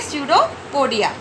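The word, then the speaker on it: pseudopodia: ठीक है, इसमें पी साइलेंट है इसलिए हम इसको प्रोनाउंस करेंगे स्यूडोपोडिया।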